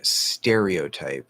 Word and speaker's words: stereotype: doesn't matter um uh stereotype and i say stereotype stereo stereo so the oh i'm pretty sure it gets secondary stress which we know some weird things can happen with secondary stress but generally it's not going to reduce stereo stereotype it's a stereotype